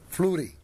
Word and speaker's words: Flury: Fleury, giusto? Sì, corretto, buonasera a tutti gli ascoltatori. La pronuncia è corretta, sì, perché si pronuncia la tedesca in quanto il mio nome è di origine svizzero-tedesco.